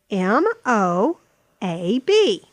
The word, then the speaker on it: Moab: that have two syllables m o a b Moab Moab Moab Moab m o